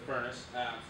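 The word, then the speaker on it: Phurnace: what he's referring to is a company called furnace software it's spelled with a ph p-h-u-r-n-a-c-e crazy cool name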